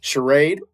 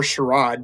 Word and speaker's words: Charade: Wikipedia page says this shade or sherro depending on how you want to pronounce that word is a 1963 and